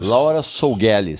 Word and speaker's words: Laura Sougueles: Laura, como é que se pronuncia isso? Laura Sougueles. Sougueles? É.